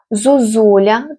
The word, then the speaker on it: зозуля: Зозуля тут, е, перед складом з наголошеним у о буде уподібнюватись до у.